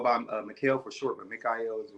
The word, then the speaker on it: Mikhael: and also go by Mel for short but Mikel is the right pronunciation okay awesome that's how been saying it